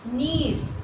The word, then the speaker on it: नीर: नीर, यहाँ पर उच्चारण में र है, तो इसको हमको उच्चारण करने होगा नीर।